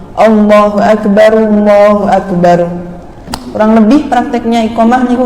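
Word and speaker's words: الله أكبر: Nah, yang perlu diperhatikan sama seperti lafaz Allahu Akbar yang pertama dengan Allahu Akbar yang kedua, nggak boleh bacanya ro-nya itu terbaca ra, Allahu Akbar, melainkan harus dhammah. Allahu Akbar.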